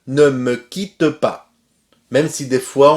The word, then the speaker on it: quitte: Ne, me et quitte, on ne prononce pas le E final. Ne me quitte pas.